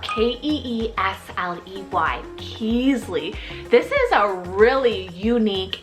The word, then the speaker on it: Keasley: kind of girl neutral name here is keasley it's spelled k-e-e-s-l-e-y keasly this is a really unique and I've personally